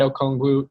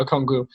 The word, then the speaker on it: Okongwu: Obviously, like, that can't decide him being at this pick, but I already had Okongwu taken out now I'm like very paranoid about how I'm pronouncing it. Yeah, Okongwu.